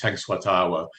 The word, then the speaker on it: Tenskwatawa: Oh yeah, Tenskwatawa. Occasionally, I've heard it pronounced Tenskwatawa, but it's Tenskwatawa, and I got that spelling.